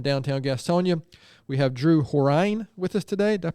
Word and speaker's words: Horine: We have Drew Horine with us today. Did I pronounce that right?